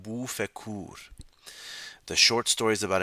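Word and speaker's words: بوف کور: In Farsi, it's pronounced Bu Fekur.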